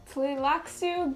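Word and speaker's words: Tleilaxu: So, Blair, pronounce that top word for me. Tlilaxu Gola.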